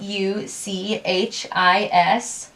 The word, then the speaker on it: Uchis: Hey Google, how do you pronounce U-C-H-I-S? That's pronounced Uchis.